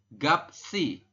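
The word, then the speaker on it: 값이: ini empat huruf ini anda bacanya tetap gap ya dibaca gap kemudian siotnya pindah ke i si dibaca seperti jadi gapsi ya dibacanya adalah gapsi seperti itu tulisannya kan gapet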